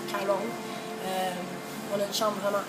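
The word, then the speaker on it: Karon: En fait, ça s'écrit K-A-R-O-N et les Thaïs prononcent le R comme un L, donc Caron.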